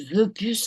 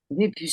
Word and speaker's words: Vépus: Jacques Le Boucher, on dit Veupus ou Vépus? Des puces. Vépus, ça s'écrit Vepus.